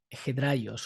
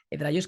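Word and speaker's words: ἑδραῖος: Esta palabra en griego es hedraios o hedraios, como vosotros pronunciáis griego, que connota esa constancia de personas que están en la fe.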